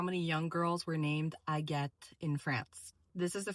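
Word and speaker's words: Agathe: not believe how many young girls were named I get in France. This is the French version of Agatha. But again, the spelling and the pronunciation is slightly different. It's not Agatha, but I get.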